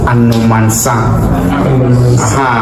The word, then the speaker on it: Anomansa: Elmina's traditional name or first name is Anomansa and I want us to pronounce it Anomsa is a Ghanian way that means inexhaustible water or the one you drink more is coming out.